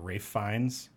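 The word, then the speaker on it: Ralph Fiennes: Rafe Fiennes? Is that how you say his name? Mm-hmm. Yeah, looks like Ralph.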